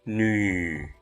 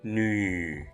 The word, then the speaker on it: 女: The pictograph for nu depicts a kneeling woman. We can use kneel as an approximation for its pronunciation.